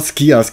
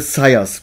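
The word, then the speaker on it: Scias: nicht besser und zwar habe ich immer skias gesagt in mein Stream ich habe allerdings mal ein paar japanische Videos angeschaut und dort wird er als Aussprache Syoss beschrieben und so werde ich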